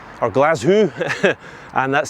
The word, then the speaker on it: Glaschu: cities in Scotland, I'm going to say that Glasgow is the best city in Scotland for walking.